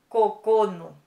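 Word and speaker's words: 九: Ich, y este kanji, que es 9, se dice Q. También este kanji se puede pronunciar Q o también Kokono.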